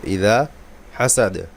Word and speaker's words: إذا حسد: দেখুন দুইটা হা আছে, দুইটা হা ভালো করে বলতে হবে, গলা থেকে উচ্চারণ আসবে। হা জবরের পরে খালি আলিফ মদের হরফ, আবার জবরের পরে খালি আলিফ মদের হরফ। ইদা হাসাদ দালে কলকলা করতে হবে।